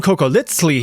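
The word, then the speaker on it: cocoliztli: If you've watched my video about surviving the Aztec Empire, you know that that funny little TL pronunciation, the sound, is on purpose.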